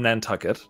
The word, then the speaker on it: Nantucket: So Nantucket rhymes with bucket, and that was like the entire list of them.